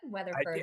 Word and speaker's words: Weatherford: Weatherford. did I pronounce the last name right? Yep, Weatherford.